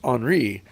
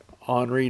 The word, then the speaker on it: Henri: player for Henry Studebaker Henry and French pronounced Henri on re noting a bit odd yeah